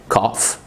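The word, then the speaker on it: calf: كاف كاف. شويه كلمات جايه من الفرنساوي، احنا عارفين في الفرنساوي الكلام ما بتنطقش في الاخ في الاخر، زي بالي زي فلاي زي ديبري.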